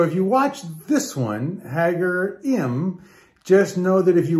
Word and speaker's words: Ħaġar Qim: really it looks like haggar quim but it's really haggar m they don't pronounce the q um it's a monolithic